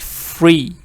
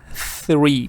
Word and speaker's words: three: and it's saying that some people pronounce it like free instead of three putting your tongue between your teeth and saying the three so you be careful